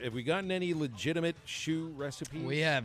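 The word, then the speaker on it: chou: uh phil a chew c-h-o-u pronounced shoe is the word for cabbage in french obviously you were talking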